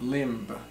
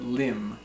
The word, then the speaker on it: limb: Lim Li MV Lim it's not limp but limb a limb is an